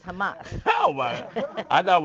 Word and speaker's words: Hamas: I pronounced that right because I always say hummus because I like to eat hummus, but it's Hamas.